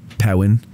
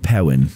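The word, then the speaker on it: Perrin: Brigade you have to say it like that powwin oh yes abno powen is how you say his name uh parents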